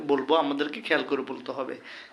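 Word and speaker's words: ح: হবে সা জিম জিম হা এই হা যখন আমরা বলবো গলার ভিতর থেকে এটা মাখরাজ চিন্তা করলে বন্ধুগণ এটি দুই নম্বর মাখরাজ হা এটি হচ্ছে গরু জবাই করে দিলে রক্ত বের হওয়ার সময় যেরকম এক ধরনের আওয়াজ হয় হা এরকম হা এটা হচ্ছে খ খ দাল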